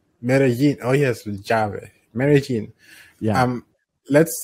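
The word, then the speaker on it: Medellín: Yin, like a ya. Medellin? Medellin. Yeah, double L. Medellin. Oh, yes, Javi. Medellin.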